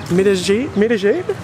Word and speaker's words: Medellín: And now this is my second day in Medellín. Yeah, is that the pronunciation?